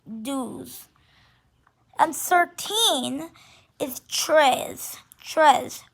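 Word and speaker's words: douze: and 11 is pronounced owns and 12 is pronounced dews and 13 is tres tres or tres well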